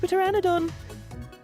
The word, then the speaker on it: pteranodon: The sex pteranodon. Why does Texas speech pronounce the P? The P is silent.